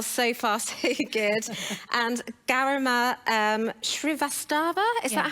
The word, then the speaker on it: Garima Srivastava: And Garima Srivastava, is that how you say it?